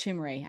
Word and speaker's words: Chimere Dike: I think it's Chimere, actually.